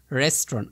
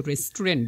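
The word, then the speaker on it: restaurant: রেস্টরন্ন। আমরা কিন্তু রেস্টুরেন্ট বলি। বাট ওটার উচ্চারণ হবে রেস্টরন।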